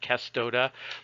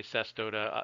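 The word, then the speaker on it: cestodes: the the Latin word Latin does not have a soft C where you pronounce a C as an S you always pronounce a C as a hard C Casto de but because there are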